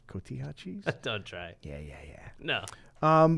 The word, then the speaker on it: cotija: I this week am going to do the pork chorizo tacos with radishes, roasted potatoes, and cojita cheese. Nice. Great pronunciation. Cotija cheese?